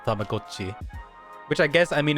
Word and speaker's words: Tamagotchi: Tamagotchi, but that's crazy to find out on the Nintendo Direct that it's actually pronounced Tamagotchi.